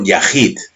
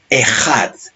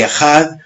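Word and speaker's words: אחד: concepto es uno absoluto en el hebreo no se dice Yahir se dice ehat y ejad tiene un sentido de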